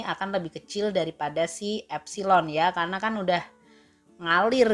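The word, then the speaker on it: ε: So simbolnya adalah epsilon Oke ini cara bacanya epsilon kemudian kalau tegangan jepit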